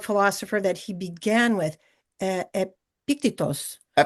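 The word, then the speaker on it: Epictetus: that he began with epicttos. Epictitus I think we'll say that's the your close your pronunciation is closer to the Greek one but in English we usually just say epictitus.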